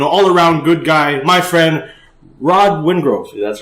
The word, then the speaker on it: Rod Wingrove: Fight League, and all-around good guy, my friend Rod Wingrove. That's right. That's how you pronounce it properly?